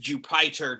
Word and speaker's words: Jupyter: have written or getting to Jupiter or sometimes pronounced jupyter notebooks which are in an